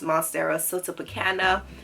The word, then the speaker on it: Monstera Siltepecana: But this is pronounced Monstera Siltepecana.